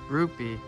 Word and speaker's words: rupee: so that word yeah rupee rupee it's not that hard alright kind of sounds like the word groupie for my understanding are